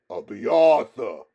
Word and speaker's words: Abiatha: "Abiatha," he repeated slowly, stressing the central A.